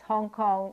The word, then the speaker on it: Hong Kong: Hong Kong is spelled H-O-N-G-K-O-N-G because in Cantonese, Hong Kong is pronounced Hong Kong, but in Mandarin, the same two characters, Hong Kong or Hong Kong, is pronounced Xiang Gang.